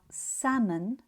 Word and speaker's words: salmon: Other examples of the silent L that are also mispronounced are salmon, yolk, and chalk. Although they are written with L and some speakers may pronounce the L, it's supposed to be silent.